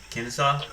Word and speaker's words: Kennesaw: it that's Kennesaw how do you say that Kennesaw yeah it's called Kennesaw yeah Kennesaw Georgia Georgia